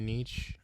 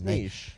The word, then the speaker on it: niche: You mean your niche? Niche. Your I've nick? never known how to pronounce that word. Niche. It's niche. Niche.